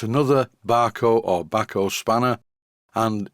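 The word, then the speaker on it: Bahco: any way with the company called Bako which according to a viewer from Sweden this is how it's pronounced as I was looking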